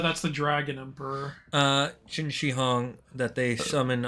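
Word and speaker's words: Qin Shi Huang: They summon uh Oh, it's pronounced Chini. Yeah. Ching Xihong. I always get That's the uh that's the dragon emperor. Uh Chin Xihong that they summon u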